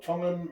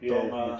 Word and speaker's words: Tonga: I think we're the only language in Polynesian, from Polynesian languages that have a soft T, where everyone else is more like a D. Yeah. Like Tonga.